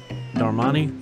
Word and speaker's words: Darmani: those sideburns aren't you darmani that's how you say it there are money you're